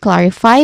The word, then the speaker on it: clarify: When it comes to pronunciation, we start with clarify which has three syllables. But the stress syllable is on the first which is clar.